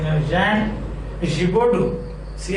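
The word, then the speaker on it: Giraudoux: Again, it's pronounced like this. Gibaudou. That's how it is pronounced. Gibaudou.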